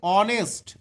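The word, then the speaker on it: honest: ও থেকে শুরু হচ্ছে উচ্চারণটা এইচ এর কোন উচ্চারণ নেই এখানে তাই তাই আই লাইক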